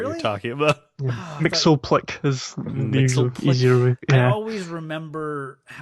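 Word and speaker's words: Mxyzptlk: Mixoplick is the easier way. I Yeah. always remember how, like in the Superman animated series, when he explains how to pronounce his name, he says "Mix Ye's Pitlick."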